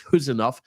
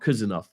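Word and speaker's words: Khusanov: It's Huzanov, not Kuzanov.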